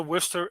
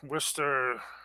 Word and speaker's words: Worcester: Definitely doesn't sound like it's written. But absolutely. Yeah, my story starts out with my father being an entrepreneur, multiple nursing homes, land everywhere in the Worcester area.